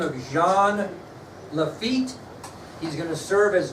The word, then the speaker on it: Jean Lafitte: name of Jean Lafitte Jean Lafitte so does not sound like it's spelled like it sounds Jean Lafitte is a French pirate